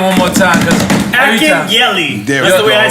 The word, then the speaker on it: Akinyele: Akinyele. That's the way I say it. I say it like Akinyele.